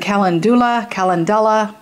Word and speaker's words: Calendula: This is the Chamomile and Calendula. That is great stuff. Yes, I know what it is. Now, I've heard it pronounced every which way but loose.